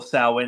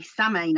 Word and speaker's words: Samhain: a Wiccan household, and we say Samhain, actually. People say, oh, you've got to say Samhain. Well, all my life in Celtic world, we've said Samhain, so don't tell me how to say it.